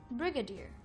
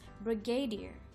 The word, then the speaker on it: brigadier: be pronouncing the word Brigadier Brigadier often mispronounced as Brigadier the word Brigadier means